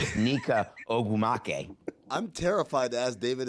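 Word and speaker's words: Nneka Ogwumike: But when I watched that, it made me think of David Samson pronouncing Neca Aguma K.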